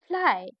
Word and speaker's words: fly: हैं फिर से देखिए बाय अक्षर का साउंड बनाता है जब यह एक छोटे शब्द के अंत में आता है जिसमें कोई वोल नहीं होता जैसे क्राय क्राय मतलब आई का उच्चारण हो रहा है हो रहा है ना